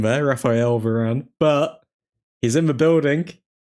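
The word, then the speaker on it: Raphaël Varane: Raphael Varane in the building. Butchered his name there. Raphael Varane.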